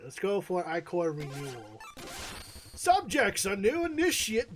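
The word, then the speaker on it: Ichor: I sense a tropical chalice I can fill with magical eye core that's pronounced I core.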